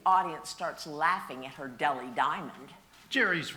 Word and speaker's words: Delhi: Well, Polly, that H is silent. It is pronounced deli.